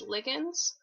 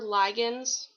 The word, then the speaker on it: ligand: Receptor proteins are sensitive to specific molecules or ions known as ligands or ligands. You can pronounce it either way.